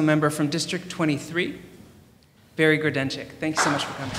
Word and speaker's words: Grodenchik: I'd like now to introduce our newly elected City Council member from District 23, Barry Grudenczyk. Thank you so much for coming. Good evening, everybody, and thank you for pronouncing my name so correctly.